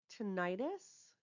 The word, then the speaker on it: tinnitus: Word 3, tinnitus, sometimes pronounced tinnitus. So tinnitus or tinnitus. Tinnitus or tinnitus, again, it just depends on who is pronouncing it, is spelled Tinnitus.